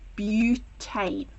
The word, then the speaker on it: butane: Now I know this is spelt as but it's not but. You pronounce it as butane.